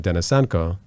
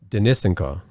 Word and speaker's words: Denysenko: a last name but I know I pronounced my last name dennisenco and some russian-speaking people will say denisinka and so I would